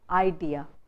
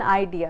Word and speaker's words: idea: speaking speakers in India, and the stress is put on the first syllable. You say idea, idea. So what an idea, Sarji. Now the correct usage is the stress is put on the second syllable, idea, idea, not idea, idea.